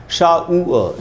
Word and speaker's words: shower: शावर में है शावर, तो हिंदी मीडियम में शावर, इंग्लिश मीडियम में शार, सब गलत उच्चारण है। क्या होगा दोस्तों, सेम पैटर्न है। तो हम पढ़ेंगे शावर, शाउअ, शाउअ, शाउअ, आ, छोटा ऊ और आधा अ, यही याद रखना है।